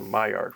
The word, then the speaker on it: Maillard: I did You did spell it poorly, but Maillard. that is how it's pronounced.